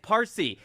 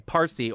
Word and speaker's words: Farsi: You have to be You don't have to be Okay, Farsi or as it later was Farsi because the Arabs could not pronounce the P, so it became Farsi, right?